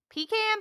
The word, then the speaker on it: pecan: So, Mhm, if it is pie, it's mhm. pecan. If it's in a cookie, it's a Pecan. pecan sandy.